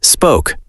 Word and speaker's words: spoke: The O sound in spoke is like the O in home. Spoke, home. Yes, they sound the same.